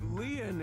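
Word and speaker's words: Lien: My name Lean is spelled L I E N.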